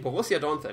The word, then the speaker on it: Borussia Donphan: I don't say Borussia. Borussia is wrong. I'm just accustomed to all the guys which are English speaking. It's Borussia. Borussia Donphan. All listening, Borussia Donphan is the way to pronounce it.